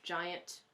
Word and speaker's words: giant: Giant can be tricky because I thought, is it two syllables or one? But usually when you have these two vowels together, it's giant, giant. So it's one syllable.